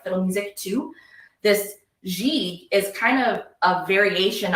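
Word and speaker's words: gigue: it actually is pronounced G and it is very similar to like a jig so I talked about how the violin used to play things like the music to this G is kind of a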